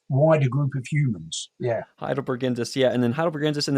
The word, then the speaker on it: Heidelbergensis: Named Heidelbergensis. So Heidelbergensis.